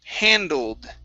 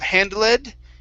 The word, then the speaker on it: handled: we have the word handled right here instead of hand led it's handled handle okay give me a d at the end handled handled the coals